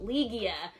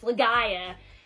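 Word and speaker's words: Legaia: said the name wrong I said the legend of liia but it's legia I finally figured out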